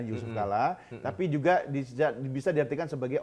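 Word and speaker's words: Jusuf Kalla: Kala Oh oke ya JK itu kan Jusuf Kala ejaan lama J kan Yusuf Kala tapi juga bisa diartikan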